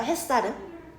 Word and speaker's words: 햇살: 근데 왜 굳이 사이시옷을 써 가면서까지 요렇게 표기를 하냐면 발음할 때 쌍시옷으로 발음되니까 얘가 표준어야. 햇살은 근데 그러면은